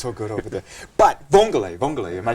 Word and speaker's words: vongole: But vongole, am I saying it right?